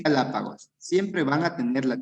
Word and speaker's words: Galápagos: Cuando se acentúe en la ante, sí, puede ser en la antepenúltima sílaba o en la tercera tercera sílaba contando desde el final.